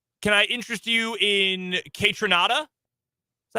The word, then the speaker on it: Kaytranada: Chemical Brothers okay can I interest you in kaytranada is that how you say it yeah that's